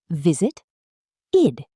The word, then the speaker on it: visited: For example, in the word visited, you hear an extra syllable. visit id But in the word walked, it sounds like a t at the end.